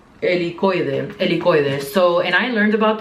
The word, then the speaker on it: Helicoide: Helicoide.